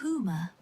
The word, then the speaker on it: Huma: The Huma, pronounced Huma, is a legendary bird often described as never landing on Earth.